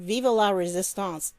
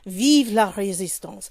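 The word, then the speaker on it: vive la résistance: messed it up but he didn't say it right because it's vive with an e at the end and then it's instead of l e it should be la la resistance so i'm sorry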